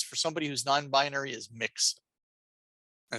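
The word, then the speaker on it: Mx: somebody who's non-binary is mixed and it's pronounced like the word mix there's the resources i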